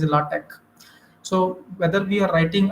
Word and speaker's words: LaTeX: software with latch also that we call latex okay but its actual pronunciation is latch so whether we are